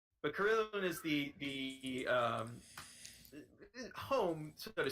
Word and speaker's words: Carillon: Smasher made it to Carillon. Carillion, whatever. My instinct is to pronounce that double L with a Y sound. That doesn't feel right. But Carillon is the home, so